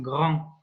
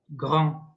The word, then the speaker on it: grand: in French is pronounced grand, grand. So it's a bit difficult for some people to pronounce the gr. It has to come from the bottom of your larynx.